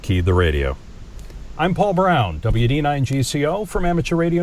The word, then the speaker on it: Braun: And if you search for him on YouTube, you spell his last name Braun, like the razor, B-R-A-U-N, not B-R-O-W-N. It's pronounced Brown, spelled Braun.